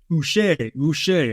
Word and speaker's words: Uche: Uche. I like that pronunciation. I saw that myself. Kind of like Bobby Boucher.